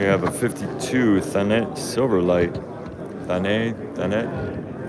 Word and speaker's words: Thanet: Thanet. Made in the UK, so I guess the T would be pronounced.